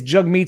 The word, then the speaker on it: Jagmeet: The WEF is doing good by Jagmeet Singh. And his pronunciation of his name is Jagmeet, and here we go.